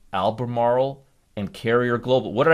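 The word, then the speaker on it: Albemarle: uh alternate energy cars lithium lithium and lithium Alber Marl Alber I I just learned to pronounce this yesterday correctly so again Alber Marl you've got lithium here you've got copper here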